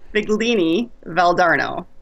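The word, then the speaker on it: Figline Valdarno: It's because it looks like fig line. It's Figlini Valdarno.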